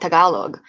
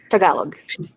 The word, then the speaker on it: Tagalog: years it's okay yeah a lot of people say tagalog because it sounds like tagalong but yeah that's yeah tagalog yes um some people